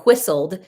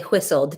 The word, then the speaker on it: whistle: whistle it's h a it's supposed to be pronounced hw anyway so he would